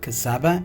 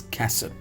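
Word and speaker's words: casaba: This is not cassava, it's cassab, right?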